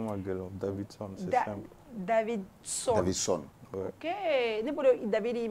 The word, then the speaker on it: Davidson: prononcer ne tɔgɔ ma gɛlɛn Davidson c'est simple Davidson ok ne bolo David yi me prononcer cogoya wɛrɛ ne fɔ anglais wala Davidson